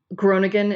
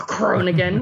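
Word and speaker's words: Groningen: Um, Groigan in the Netherlands, which I'm not pronouncing right, cuz you're supposed to do the guttural r Cronigan, which I can never do.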